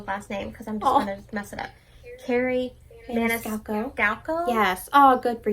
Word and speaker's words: Maniscalco: because i'm going to mess it up carrie maniscalco galco yes oh good for you katie you that's how you pronounce which is no still have heartless haven't